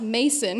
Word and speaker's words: Macon: It's supposed to sound like bacon. And I said, oh no, let me introduce you to a few country songs off the internet. It's pronounced Mason here.